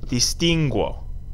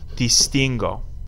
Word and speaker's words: distingo: hard G sound cono hard G sound distingo all G sounds just